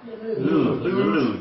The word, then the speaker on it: Louvre: Louvre, just Louvre. Louvre, okay. A bit like a loo brush.